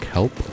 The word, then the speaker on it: kelp: It's pronounced kelp, but okay.